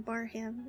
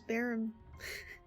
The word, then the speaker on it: Barham: You don't pronounce his name Barham. It was Barum.